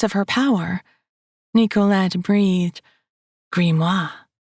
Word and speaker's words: grimoire: Nicolette breathed, grimoire, the proper French pronunciation. The British version sounded more, well, grim.